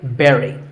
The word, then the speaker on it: bury: But this word sounds just like the berry in strawberry. So once again, bury.